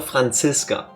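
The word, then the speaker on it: Franziska: that's Italian or or English or whatever. If she grew up in Germany, that's how you say it here. You would call her Francisca or short Franc.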